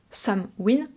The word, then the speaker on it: Samhain: Et le mot fuin qui voudrait dire fin, et qu'on prononcerait par glissement dialectique win. Some win, so win, la fin de l'été.